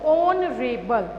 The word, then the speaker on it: honorable: Honorable. Okay. This H is silent.